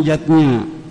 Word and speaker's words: yajna: lima macam selamatan yatnya tulisannya yajna Ayah Bunda tapi membacanya yatnya yang pertama adalah rwayatnya